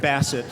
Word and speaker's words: Bassett: next panel and guest bessette or bassett am i pronouncing it basset well bessette is the uh kind of snobby which i i use on occasion when and i knew that okay bassett well first of all uh